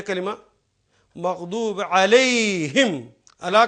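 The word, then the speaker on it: عليهم: अब देखिए ये कलिमा मग़दूब अलैहिम, अला का मतलब पर और हुम उन सब पर। लेकिन या की वजह से इसको प्रोनाउंस करेंगे अलैहिम ज़ेर के साथ, ताकि अलैहिम, या के बाद ज़ेर ही आएगी।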